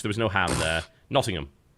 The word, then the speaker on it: Nottingham: Nottingham. Everybody keeps telling me not to pronounce the H, but everybody there pronounces the H. Just really soft.